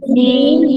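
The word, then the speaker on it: ج: সবাই পড়ে জিম জিম জিম জিম পরে তার জিম জিম জিম জিম জিম জিম জিম জিম জা জু যা জু আচ্ছা, এই জিমের মধ্যে আমাদের কি সমস্যা হয়?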